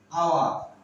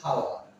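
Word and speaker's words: hour: এবার আসুন আওয়ার। এইচটা দেখুন, দেখুন এইচ এর এখানে দেখুন এইচটা সাইলেন্ট, দেখা লেখা আছে আওয়ার। আমরা উচ্চারণের সময় এইচটা করি না, বাংলা আমি লিখেছি আওয়ার। আওয়ার আমরা কিন্তু বলি না হাওয়ার।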